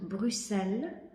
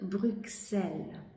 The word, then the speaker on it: Bruxelles: произношението на града брюксел белгийците казват брюсел докато французите казват брюксел белгийците изключително много се дразнят на френското произношение на града как се наричат закуска